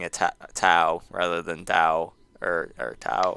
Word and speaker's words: Tao: It's ao, so it's ow, ow, ow.